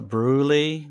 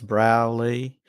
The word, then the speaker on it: Broulee: Wales Australia it's in a little town called browley which a lot of people mispronounced they call it bruly because it's spelled b r o u l we e